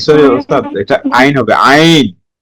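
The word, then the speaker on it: عين: ইনশাআল্লাহ আইন জি এটা একটু গলার ভিতর থেকে হবে। ঠিক আছে? জি। আইন আইন এটা একটু মোটা হরফ।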